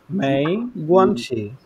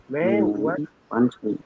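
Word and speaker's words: 没关系: জি তুই পুছি, তুই বুঝছি, কিন্তু পড়া হয়েছে, মেই গুয়ানছি, মেই গুয়ানছি, তুই পুছি, তুই পুছি, মেই গুয়ানছি, মেই গুয়ানছি,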